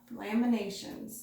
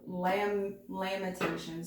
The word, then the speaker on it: Lamentations: Right away, you're pulling on Laminations. I hope I'm pronouncing that right. Limitations? Or Lamentations. It could, kind of spelled like, it kind of pronounced like limitations, but it's lamentations, sorry.